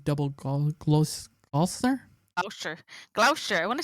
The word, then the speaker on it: Gloucester: down double name double gloss ulcer oh sure Gloucester I want to say it's gloucestors give me